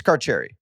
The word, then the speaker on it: Careri: It's Careri. It's Carcherry. Oh, I still don't feel comfortable saying it. Yeah, it's Kerry. Yeah, it's Carcherry. I thought it was Kietti.